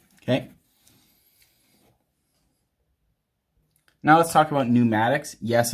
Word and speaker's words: pneumatics: now let's talk about pneumatics yes it starts with a p the p is silent it's a lot like